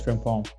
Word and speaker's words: Frimpong: Is it Frimpong? Yeah, it's Frimpong.